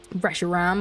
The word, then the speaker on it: Reshiram: Reshraham. I spelt that wrong. Reshiram, I've just been saying it wrong.